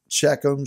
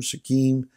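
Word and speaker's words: Shechem: the king of shakim yes a little shakum shakim is a better pronunciation in the aftermath of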